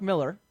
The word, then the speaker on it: Millar: Mark Miller, the writer, not Mark Millar, even though it's spelled with an A.